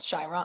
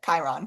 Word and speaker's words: Chiron: Shyron. I always can never pronounce it. Chiron. It's Chiron, not Shy.